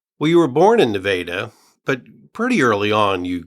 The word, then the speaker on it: Nevada: And something interesting about the location, it was not that far from the town where you were born, Nevada, Missouri. It was not, and I thank you for pronouncing it correctly.